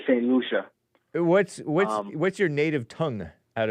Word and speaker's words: St. Lucia: I always called it St. Lucia, but it's St. Lucia. Oh, yeah. That's the Spanish way of saying it, I guess. Okay, yeah. But we say St. Lucia.